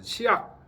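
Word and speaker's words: 致樂: 음악 치락 치 그러니까 치악이라고 읽어야 돼. 치악 음악을 음악일 때는 악이라고 읽고 즐거움이라고 할 때 락이라고 일치는 거죠.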